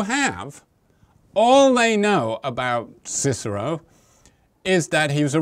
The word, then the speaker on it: Cicero: people like Aristotle or Cicero or kikaro I believe you're supposed to pronounce his name uh who was a